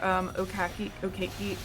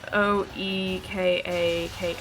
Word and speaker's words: Oekaki: Any of y'all remember Okaki arts? I can never know how to pronounce that. Never heard of it. It's Oekaki.